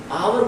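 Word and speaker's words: hour: आवर का जब हम प्रोनाउंसिएशन करते हैं तो सबसे पहले निकल के आता है आ, और हॉर्स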